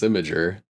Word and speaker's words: Imgur: Imgur? You don't say Imgur? No, it's Imager.